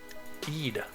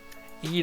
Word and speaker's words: Eid: with a bigger situation Eid Eid is how that's pronounced all right that's all